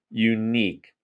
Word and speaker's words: unique: Unique means one of a kind, and you say it like this: you, Y-O-U, and then neek, N-E-E-K.